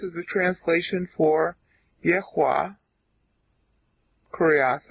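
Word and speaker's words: κύριος: Kurios, actually, is how you pronounce it.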